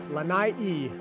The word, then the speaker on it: Lanai: First axis deer from the island of Lanai. Lanai-E, the locals pronounce it.